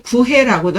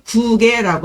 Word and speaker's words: 구개: 문헌적인 변음으로는 구해라고도 하는데 표준 발음으로는 구개라고 한답니다.